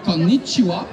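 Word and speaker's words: こんにちは: Quand on est en après-midi, le fameux konnichiwa, on prononce bien le double N, konnichiwa, et on dit wa et chi, c'est d'abord pas konnichiwa, ça veut rien dire, littéralement.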